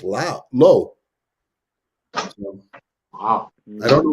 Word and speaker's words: Liu: Lizard by Jason Liu, which I just found out we've been pronouncing wrong all this time, but because he does that on purpose, but it's actually pronounced low.